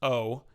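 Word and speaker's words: を: receiving anything in Japanese the particle woe which is usually just pronounced o in normal speech is always attached to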